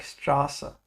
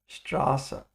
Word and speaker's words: Straße: It's like a double S, and it makes the sound of a sharp S, like Straße. Straße.